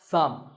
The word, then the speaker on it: thumb: is my thumb it's not my thumb it's pronounced thumb and what about this this is a cone